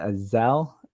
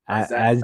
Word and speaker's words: Azazel: How do you pronounce that? Azazel? Azazel.